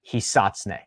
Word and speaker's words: Hisatsune: I had a native Japanese speaker tell me that it should be pronounced the proper acceptable American pronunciation of it would be Hisatsune. Hisatsune. Hisatsune. 3 syllables.